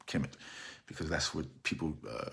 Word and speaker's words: Kemet: they call it kemet there are no vowels in the transliteration such as kmt but we pronounce it chemic because that's what people